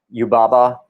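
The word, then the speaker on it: Yubaba: great alexi broke it down brilliantly antagonist is you baba is that my pronounce that correct alexi yep that's it and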